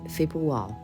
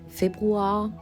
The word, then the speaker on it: Februar: spelled in German, and we call that Februar. Februar is also very Schaffhauser, Swiss German. Our R is kind of not there, so Februar.